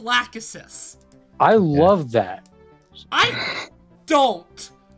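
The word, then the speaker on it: Lachesis: i'm sorry what yeah it's pronounced lack assist i love that i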